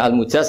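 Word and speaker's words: مجاز: sanad itu untuk almujaz bacanya almujaz karena dari fi'il madhi ajaza jadi mujaz itu yang dikasih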